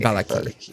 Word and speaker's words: Vallaki: Valaki? Valaki. Valaki. Veliki. Valaki. Vallaki. Got it.